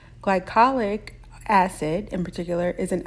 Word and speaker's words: glycolic: for its wonderful properties and Skin Care items glycolic glycolic acid in particular is an alpha hydroxy acid